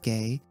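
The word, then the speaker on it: ゲイ: Gay in this context is written in the katakana alphabet, which is used for loanwords, but pronounced as a homophone of gay, the kanji for art and performance, as well as the first character in the word geisha.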